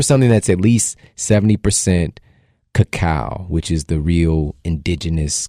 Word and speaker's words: cacao: So So it's not cocoa. it's cacao. cacao.